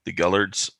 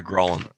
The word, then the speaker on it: Gralhund: You do know that the couple that owns the place, the Gullards, I just pronounced that completely fucking wrong. The Gralhund.